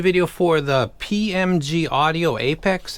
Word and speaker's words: apx: for the PMG audio Apex it's spelled apx it's pronounced Apex um this is a